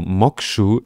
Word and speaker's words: Moksha: und der Desktop ist der nennt sich mokche Desktop das wird hier auch noch mal so angegeben wie das ausgesprochen wird also moku Desktop ja und der basiert